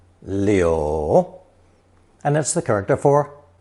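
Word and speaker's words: 柳: takes Mao as phonetic is pronounced third tone Leo Leo and that's the character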